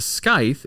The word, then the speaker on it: scythe: The scythe, is it scythe or sickle? It's scythe. Scythe. Okay, The scythe. C is silent.